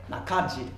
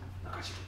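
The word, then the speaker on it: 中弦: 書いて、中の弦と書いて中汁、中汁、はい、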